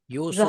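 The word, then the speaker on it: يوسفُ: यूसुफ ने जवाब दिया, नाम यूसुफू, जहबना। उसको सही प्रोनाउंस भी करना यू- ना, यूसुफू। यूसुफू यूसुफू नाम जहबना।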